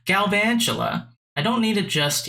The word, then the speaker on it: Galvantula: think i need a galva tula i keep saying it wrong galvantula i don't need it